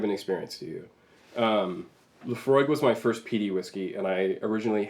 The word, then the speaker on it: Laphroaig: dad mentioned it and he pronounced it terribly he called it the lofro hag or something like that and I was at